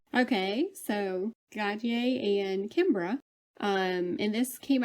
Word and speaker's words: Gotye: yes, Gotye. Okay, so Gotye and Kimbra.